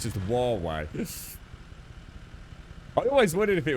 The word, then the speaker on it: Huawei: got it yeah yeah huawei is that is that just it's not just how you pronounce it it's actually just huawei is it i'm sure you'll call it hawaii so it's it's actually a lot a lot less syllables than i thought it's just huawei i